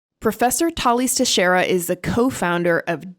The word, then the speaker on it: Thales: and in English so uber drivers pronounce it as sales some people in Starbucks pronounce it as staleys but I've I've heard all sorts of variations so I'm not bothered by any of them anymore but professionally you use the actual pronunciation of your name as Folies I would imagine Tallis you do Tallis okay there we go perfect so that's that's what